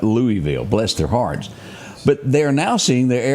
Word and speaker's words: Louisville: It's supposed to be Lewisville, but they for some reason call it Louisville.